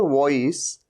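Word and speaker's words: voice: जिसमें कि वी है, वी का मतलब ऊपर वाले दांत नीचे वाले लिप पे टच कर रहे हैं, वॉइस, वॉइस। ये वॉइस नहीं है, वॉइस है ना, वॉइस, वॉइस मतलब आवाज।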